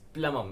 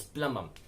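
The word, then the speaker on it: plumbum: PL um B um plum um please understand that there is a B in this word but the B is silent it's plum um it's not got gum bum it's it's plum um and that's why it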